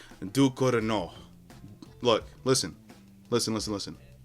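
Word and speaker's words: Ducournau: Alpha directed by Julia Ducanara. Now, we're going to try that again. Okay, I just looked it up. Apparently, it's pronounced Dorino. Look, listen, listen, listen, listen. Alpha directed by Julia Duino.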